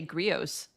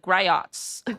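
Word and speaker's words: Griot's: I let it up to every other person to pronounce it right. It took me years to figure out how to say grios. Like I was like griots right go.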